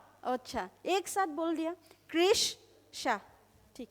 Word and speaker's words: Krish Shah: Krish Shah. अच्छा, एक साथ बोल दिया. Krish Shah.